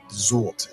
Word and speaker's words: Sylt: island in Germany called Sylt. And I think it's pronounced Zult in German.